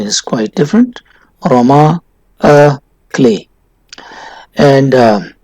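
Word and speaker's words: roman à clef: aroma ah clay as it is french a pronunciation is quite different roma a clay and f stands for french it means or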